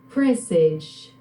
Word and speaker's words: presage: It's pronounced like this, presage.